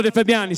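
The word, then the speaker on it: De Fabiani: sono al Mantova perché non defabiani si pronuncia tutto d'un fiato Benvenuti Grazie del signor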